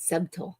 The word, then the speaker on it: subtle: It's spelled subtle. Nobody knows where that T came from, or that B is subtle, but it is there. Subtle. Well, you're not even saying T either. You're saying D.